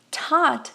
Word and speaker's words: taught: E sim, esse T no final ele pode ser pronunciado, mas muitas vezes você vai ver que ele vai ser limado, ele vai ser cortado e as pessoas não vão pronunciar.